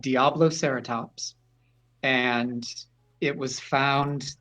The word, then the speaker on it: Diabloceratops: mark, but it's it's spelled the same as Triceratops, just Diablo instead of tri. Diablo Ceratops.